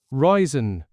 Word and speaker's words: Ryzen: So, Ryzen.